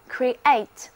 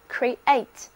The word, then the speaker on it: create: 注意字母 E 和字母 A 在词里的发音是各自独立的，因此 C-R-E-A-T 这个单词应该这样来念， create， create，重音在第二个音节。